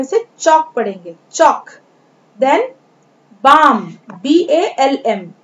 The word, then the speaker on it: balm: Then बाम, BALM, L is a silent letter here, L जो है वो शांत है, इसे हम बालम नहीं पढ़ के बाम पढ़ेंगे, बाम।